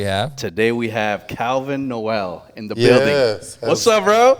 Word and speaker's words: Nowell: That's Yeah, it's Calvin Noel, like the first Noel.